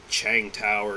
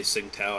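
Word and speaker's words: Tsingtao: here oh boy uh i guess it's pronounced like chang tower or some but it i say sing tao i don't give a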